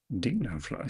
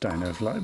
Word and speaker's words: Dofly: Dofly Street. My actor didn't get the memo about it being pronounced DFly, but okay.